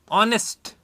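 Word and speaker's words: honest: ऑनेस्ट मैन, अब देखिए एच तो है लेकिन यहां साइलेंट है, तो क्या मैं सभी जगह ए का यूज कर सकता हूं, बिल्कुल नहीं कर सकता।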